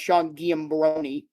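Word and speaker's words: Giambrone: Actually, his name is pronounced Sean Giambroni.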